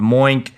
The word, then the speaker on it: Moink: Now, here's what Moink is doing to combat some of this stuff, which I really appreciate.